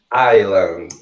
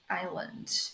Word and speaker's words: island: E essa aqui da frente, que a gente escreve Iceland, a pronúncia correta... Desculpa. A pronúncia correta dela em inglês é Island. Island.